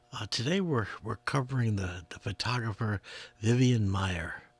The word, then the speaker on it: Vivian Maier: Today we're covering the photographer Vivian Maier, or Vivian Maier, as some people pronounce.